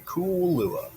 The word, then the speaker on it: Kool-Luah: Cool lua. You got to say it right. You got to put the cool in it. Got you got to pause in between. Cool lua.